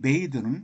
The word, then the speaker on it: bath: 이 bathe는 목욕하다라고 하는 동사인데 목욕이라고 하는 명사는 이 e가 빠지죠. th까지. 그리고 발음은 bath 이렇게 발음하고 거기다 e를 붙여서 동사화 하면은 bathe라고 발음합니다. 목욕하다.